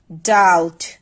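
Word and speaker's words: doubt: That means সেই বি উচ্চারিত হয় না। যেমন আমরা যদি কিছু ওয়ার্ড দেখি, date, ডাউট, subtle, indebted, date, ডাউট, subtle, indebted. That means এই যে ওয়ার্ডগুলো আছে প্রতিটিতেই কিন্তু বি এর পরে টি আছে। দ্যাট মিনস টি এর আগে যে বি সেটা আমরা উচ্চারণ করব না।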